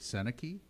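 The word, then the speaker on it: Sennecke: overall pick Beckett how do you say it seneki yes fourth overall pick Kaden Lidstrom now he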